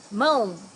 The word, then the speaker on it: Mão: Mão, hands. Also here we have a nasal sound, mão. Remember to use your nose to say these words.